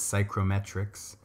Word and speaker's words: psychrometric: humidity and temperature conditions, and we call this psychrometrics. And you can look that up, but it's spelled P-S-Y-C-H-R-O, and then metric, psychrometric.